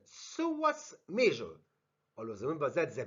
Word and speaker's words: psoas: The first one related to the back of the medial third, which is called psoas major. Always remember that the B is silent.